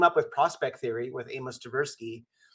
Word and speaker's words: Amos Tversky: And if people aren't familiar with the book or his work, when he and his cohort Avis, am I mispronouncing Amos Tversky, Amos Tversky, yeah.